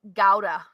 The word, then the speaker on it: gouda: almost this top secret gouda is pronounced gowda with the harsh G yeah is talking about